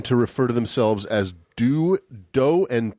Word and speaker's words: Do: D-O and T-I. That's how they referred to each other and themselves. Who's dough and who's tea? He's Do, she's Ti. Okay.